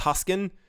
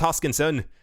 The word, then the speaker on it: Hoskinson: for some reason I used to say Charles huskin and then kind of continue and I got